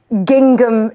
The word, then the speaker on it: gingham: I'm wearing a fulllength gingham dress. Okay. I like the way you sounded the second G. Gingham. Oh, you're not supposed to pronounce the second I don't know.